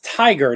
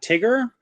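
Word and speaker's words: Tigrr: So it's Tiger, not Tigger. I always call it Tiger. I mean, you call it Tigger, whatever. I didn't know because for those of you who don't know, it's spelt weird. It's TIG''RR. Yep. So it's like, is it Tigger? Is it Tiger?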